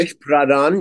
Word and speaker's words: Girish Pradhan: He's You have I hope I pronounce his name right, Girish Pradhan as your new vocalist? Girish Pradhan, yeah. You're you're you're close enough. That's very close.